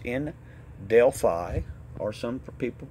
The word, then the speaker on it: Delphi: I mean, it's a remnant of what it used to be, and it's in Delphi, or some people pronounce it Delphi.